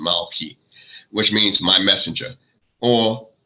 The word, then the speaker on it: Malachi: prophets now you know a lot of people say malachi or something involved you know that's what we know the hebrew pronunciation malki which means my messenger